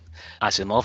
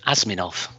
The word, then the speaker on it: Asimov: big three in particular Asimov I remember going to a public library and picking a book off the shelf and I I was so young that I mispronounced the name asminov at the time I